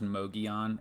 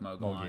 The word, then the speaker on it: Mogollon: It's pronounced Mogollon. It looks like Mogollon.